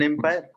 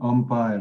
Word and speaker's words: umpire: An empire. An umpire, not empire, umpire. And Umpire. why? Because when we pronounce this word, we pronounce it as a vowel.